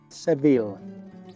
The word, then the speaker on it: Seville: Spain was bor in seville en inglés debes escribir y pronunciar el nombre de la ciudad de la forma en que lo hacen los anglosajones en inglés pronunciamos seville Mexico Where are you